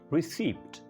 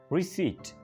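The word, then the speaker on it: receipt: यहाँ पे क्योंकि वर्ड के अंदर है पी, तो इसको अक्सर बोला जाता है रिसीप्ट। रिसीप्ट पी बोला जाता है, हालांकि पी को इसके अंदर साइलेंट करना होता है। रिसीट, रिसीट।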